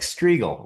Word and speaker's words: Strigl: I'm not like Strigl, rhymes with eagle.